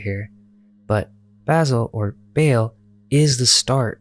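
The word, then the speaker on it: Basel: other quarters he chose the Swiss town of Basil or is pronounced Baal here he wrote his famous work quote the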